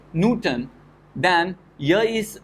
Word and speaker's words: Newton: famous scientist so this newton as uh let's say uh we pronounce it newton so first syllable is stressed so you have to